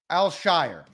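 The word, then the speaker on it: Al-Shaair: Al Shire outside it's in between Al and all it does he says Al so Shire number 51 is this so Shire number 51.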